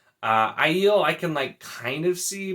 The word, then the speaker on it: Aiel: So the first big one is Aiel, because I say ale. I'm always going to say ale. Aiel I can kind of see, but I feel like that's just complicating it.